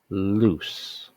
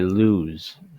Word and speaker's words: loose: way do you know how to say it loose loose but some people some people say lose uh lose which is different it's a right